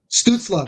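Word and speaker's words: Stützle: I keep saying his name wrong. Stutzla.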